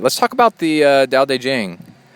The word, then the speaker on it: Tao Te Ching: Let's talk about the uh Da De Jen is I think the way you say it.